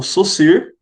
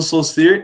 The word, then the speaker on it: Saussure: já ouviram falar dele o SUS ir é assim que se pronuncia tá não é saussure com sou ser ele consegue a língua